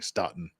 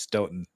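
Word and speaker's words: Stoughton: I was I was soundly see we we pronounced stoen stoen well St I was soundly criticized the first time around for continually ston it's Sten all right anyway that's a just me trying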